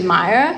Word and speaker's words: Maya: correct them and say it's no it's actually Maya but I've definitely gotten